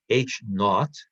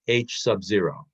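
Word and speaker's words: H₀: zero next do it and and this is pronounced H not not means zero or H Subzero I've heard people say it both ways but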